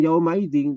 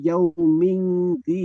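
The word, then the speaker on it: يوم ذي: Bukan yaumaidin tapi yaumingin.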